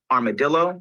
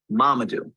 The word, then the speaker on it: Mamadou: My name is Mamadou, not Armadillo, not Marmaduke, not, not, Mamadou.